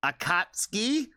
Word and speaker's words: Akatsuki: double feature of um I believe it is pronounced Akatsky that's the way I was told to say it if I if it